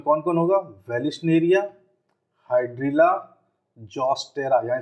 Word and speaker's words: Zostera: इसमें कौन कौन होगा, वेलिस्नेरिया, हाइड्रिला, जॉस्टेरा, यहाँ स्पेलिंग नहीं दिख रही होगी, सुन लीजिए, ZOSTERA, जॉस्टेरा।